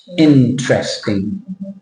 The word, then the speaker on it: interesting: n interesting interesting yeah interesting interesting you're adding an extra syllable but there's no sh sound there's no sh sounding interesting but what you're doing